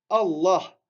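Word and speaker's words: الله: Allah. Parfois, on va dire là. Le lem ici au milieu, là, on va le prononcer là. Et parfois, on va le prononcer la. D'accord? Parfois là, parfois la.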